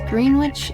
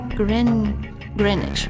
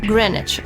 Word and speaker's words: Greenwich: For future reference, green witch is pronounced grenwich. Greenwich.